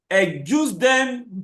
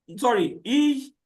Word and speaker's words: Ejusdem: The first one is the Ejusdem generis rules. Ejusdem generis rules. It is spelled E-J-E E-J-U-S-D-E-M, Ejusdem.